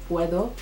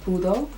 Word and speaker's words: puedo: There are certain phrases that I didn't know how to say, like hacer compras, or even mistakenly pronouncing the word puedo as pudo when they're very different in meaning.